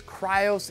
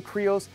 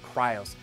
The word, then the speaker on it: Krios: It is Krios. No matter how bad you want to say Kreos, the guys at Klim are pronouncing it Krios.